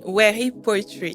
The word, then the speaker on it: Weri Poetry: Bonsoir, Weri Poetry. Je prononce bien? Oui, Weri Poetry.